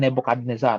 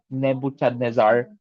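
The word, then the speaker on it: Nebuchadnezzar: So bago pa po ito mangyari, it was a dream by King Nebukadnezar ano or Neb Nebuchadnezar depende po sa pronunciation ano.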